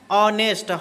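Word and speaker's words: honest: को लगाना पड़ेगा एन क्योंकि इसका जब उच्चारण करिएगा तो ये आता है आपका ऑनेस्ट नेस्ट नहीं ठीक है चलिए अब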